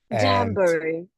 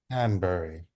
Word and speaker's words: Danbury: that scene where um lady Danbury right that's how you say her name Danbury Danbury I love her and